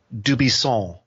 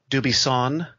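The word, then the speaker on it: Dubuisson: home country of France, if you pronounced his last name, it would be Dubisson, with that Gallic N that's up in your nose, that "aw" sound. Well, in the United States, sportscasters either say his name Dubisson with a hard N or Dubisson on the first syllable.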